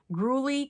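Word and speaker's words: Gurley: the back for 75 grully candles are a bolo I think I'm saying that right it's g-u-r-l-e-y think that's how you pronounce it and here is the skeleton that sold for 75.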